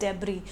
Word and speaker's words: debris: In English we call it डेब्री, DEBRIS, the pronunciation is डेब्री.